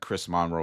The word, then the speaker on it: Chris Monroe: I've been saying it wrong. I think it's Chris Monroe, like he's a president.